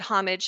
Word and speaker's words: Homage: And for those of you who are not familiar with Homage, saying the word homage is the most confusing thing. So we pronounce it Homage Senior Services.